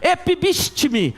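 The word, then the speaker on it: ἐπίστηθι: oportuno ou não, insta, epibistime, é mais ou menos assim a pronúncia no original, e significa ficar em cima, tomar uma posição firme, uma posição dura.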